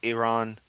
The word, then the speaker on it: Iran: Iran. E, not I.